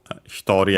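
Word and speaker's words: 一人: people, two persons, futari, hito, hitori accent on the to, futari should be accent on the last syllable instead.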